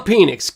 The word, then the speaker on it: Penix: The Penix. Get it right, man. Pronounce it correctly.